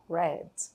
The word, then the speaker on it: read: Esse verbo aqui você vai falar a pronúncia dele como se estivesse falando a palavra vermelho em inglês, tá bom? Então, esse daqui a gente fala read e essa pronúncia desse verbo no passado fica red.